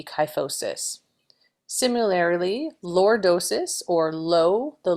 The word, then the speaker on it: kyphosis: I remember the term kyphosis because it rhymes with high. So chi and high, and it's the higher part of the back that has rounding, would be kyphosis.